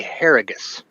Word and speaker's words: Harrigus: And before we throw it back to you guys, real quick, I just got clarification from a niece and wife. It is Kevin Jagir and Corey Harrigus.